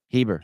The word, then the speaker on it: Heber: But then I watched her interactions with Huber. Is it Huber? Heber.